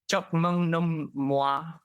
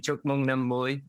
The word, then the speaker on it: Chúc mừng năm mới: They say Chúc mừng năm moi. Oh, what? It's an AI, right? So you can't really blame it for not getting the pronunciation, but it makes me laugh anyway. So if anyone has a Google Assistant, get it to say Chúc mừng năm mới or Happy New Year in Vietnamese, and it will butcher the pronunciation more than me.